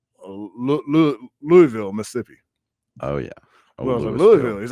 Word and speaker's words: Louisville: Oh, Louisville. He's like, it's Louisville. It's Louisville, not Louisville.